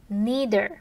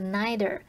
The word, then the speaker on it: neither: 阅读是很令人放松的，听音乐也是。好，那至于否定复合的话，我们可以用到 neither，或者是念作 neither，然后加上助动词或 be 动词，再加主词去表达也不怎么样怎么样。像是 Sharon isn't going to the party.And neither are we.